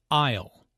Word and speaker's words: aisle: who does which task Isle notice the silent s in Isle an isle is an